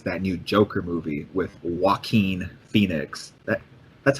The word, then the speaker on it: Joaquin: The first movie that we'll talk about is that new Joker movie with Joaquin Phoenix. That's how you say his name, right? I think it's Joaquin.